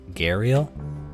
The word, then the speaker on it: Gharial: We're doing the Gharial. Gharial? I should look up how to pronounce that. And with a quick Google search, I have found that it's Gharial.